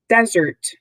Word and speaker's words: desert: using the pronunciation key it's got the little apostrophe to show that zert is the emphasized syllable is a noun and